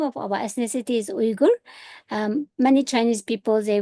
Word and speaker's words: Uyghur: ethnic name our name of our ethnicity is Uger. Um many Chinese people they would say but the correct pronunciation is U starts with UF for umbrella.